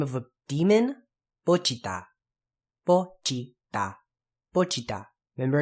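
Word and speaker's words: Pochita: Next is the name of a demon, Pochiata. Pochiata. Pochiata. Remember, it's not Pochiata, it's Pochiata. Remember, all the syllables are pronounced the same, and you do want to pronounce that T. You don't want to say Pochiata.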